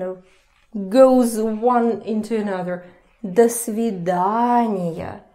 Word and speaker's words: до свидания: До свидания. So the rule about reduction goes to this О as well.